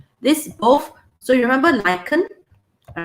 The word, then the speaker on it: lichen: Okay, you pronounce it as K. It's a K sound, not lichen. It's a K sound, lichen.